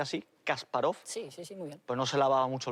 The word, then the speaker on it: Kasparov: alguien no al ajedrez no a kasparov se pronuncia así kasparov pues no se lava mucho el pelo por